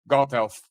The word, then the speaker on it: Gothelf: Castro Felipe Castro and then you have Jeff goldhealth uh is that the right pronunciation absolutely yes thank you so who are